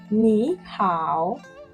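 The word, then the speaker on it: 你好: It is pronounced nihow.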